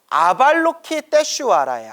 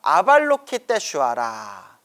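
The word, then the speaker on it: Avalokiteśvara: 근데 관세음보살님의 원래 산스크리트어 이름이, 인도 산스크리트어 이름이 아발로키테슈와라예요. 아발로키테슈와라. 그러면 여러분, 원래 이름이신 아발로키테슈와라 연불하는 게 더 가피를 빨리 받을까요?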